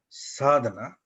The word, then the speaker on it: sadhana: The 3 courses are called Gita Vidya Sadhana, Gita Vidya Sodhana, and Gita Vidya Vadhana.